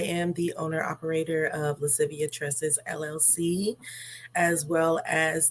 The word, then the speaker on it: Lascivia: very beautiful name and I just wanted to pronounce it correctly is Latin um it is lascivia Latin for playfulness and sultriness which I feel